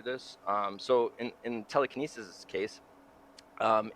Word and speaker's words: TeleCANesis: It's uh it's called Telekinesis. It's spelled wrong on purpose.